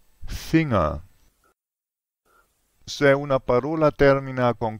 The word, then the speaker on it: Finger: in n e g in inglese è Finger ma in tedesco è finga se una parola termina